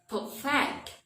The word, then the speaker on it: perfect: stress change accordingly perfect the adjective perfect when we change that to a verb the stress change to the second syllable perfect for example I have